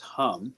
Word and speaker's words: Ham: Ham, hum, pronounced hum, Um, is the sound of the throat chakra.